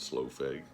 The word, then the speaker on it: Slough: Um, and I know it looks like it's spelled slough feg, but I have it on good authority that the band pronounces it slow.